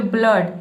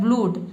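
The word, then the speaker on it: blood: देखिए यहां पे ब्लड मतलब कि डबल ओ को हम अ पढ़ रहे हैं। ठीक है? यहां पे उ अगर उ पढ़ते हो तो ये हो जाता है ब्लूट।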